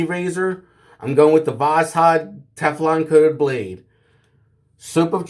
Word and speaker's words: Voskhod: I used to call them Vosgods, but someone on here on YouTube corrected my pronunciation. Voskhod blades are actually pronounced Voskhod.